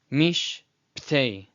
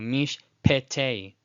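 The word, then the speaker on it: mishp'tei: So mish ptei, ptei, ptei. You hear that right in between the pei and the tet. It's already there. So you don't need to do mish pete as its own syllable.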